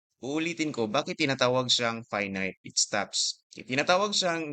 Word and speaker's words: finite: Now take note sa pronunciation ng dalawang words na to. Ito lang ang word that is pronounced as finite then ag ito infinite. So you know English rules ng English.